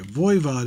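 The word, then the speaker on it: Voivod: I said that right vood Vo VOD okay vood is the actual pronunciation of the group okay number 21 is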